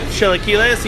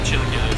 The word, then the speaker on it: chilaquiles: I'm not sure how you pronounce it. I'm probably gonna butcher it. Chilaquiles?